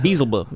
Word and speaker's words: Beelzebub: I think it's Beelzebub or something like that. Beelzebub. Yeah, exactly. That's how it's pronounced in the original Latin.